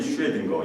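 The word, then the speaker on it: Schrödinger: 아주 작은 입자, 원자, 그 안에 있는 뭐 전자가 들어가고 중성자, 양성자, 에르윈 슈레딩거, 영어로는 어윈인데 이 사람이 오스트리아 사람이니까 독일 발음을 해서 에르윈 슈레딩거라는 사람이 그 법칙을 발견했어요.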